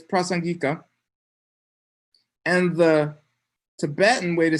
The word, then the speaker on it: Prasangika: it wrong okay sorry i forget how to pronounce it wrong um anyway it's prasan gika and the tibetan way to say that is